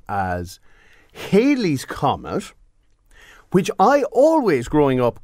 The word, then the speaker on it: Halley's Comet: The double L does pronounce it as Halley's Comet.